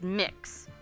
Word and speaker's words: MX: so let's deal with I'm told that MX pronounced mix there is that's generally